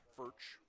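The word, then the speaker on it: Foet: fch the third baseman fch spells his name f o e t pronounced fch swings and misses out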